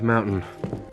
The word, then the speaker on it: Mountain: this again the North Mountain there's a stop te sound in the middle of the word Mountain a stop tea happens